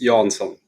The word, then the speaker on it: Jansson: it's is it Jansen Hansen how do you say your last name yeah that's correct in Swedish it's jansson but J yeah okay well that's